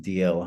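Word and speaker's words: Dalziel: the local high school Dal DL Dal but pronounced DL high school to which my um father and his sister and brother had gone um years beforehand.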